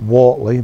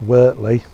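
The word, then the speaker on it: Wortley: and lower workley cemetery and leeds it's about wartly but it's pronounced wertly this is the final resting place of wilfred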